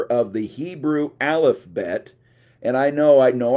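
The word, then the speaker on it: alephbet: letter of the Hebrew alfet and I know I know I did not mispronounce it I didn't say alphabet I know I said alfet because that's what you call the Hebrew alphbet Okay so the first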